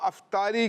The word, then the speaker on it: افطار: اچھا، انہوں نے کہا افطاری کی۔ اب یہ بتائیے درست تلفظ جو ہے افطار ہے یا افطار ہے؟ افطار۔ یہ کہہ رہے ہیں افطار۔ ہاں بھائی، اور کون بتائے گا؟ جی، افطار۔ افطار۔ افطار نہیں ہے؟